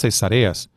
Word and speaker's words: Cesarea: al verlo generalmente nosotros podemos pronunciarla como es el caso pues de la práctica obstétrica de la cesárea, que no tiene nada que ver. Cesarea es una cosa y Cesarea es la ciudad, pero si nosotros fijamos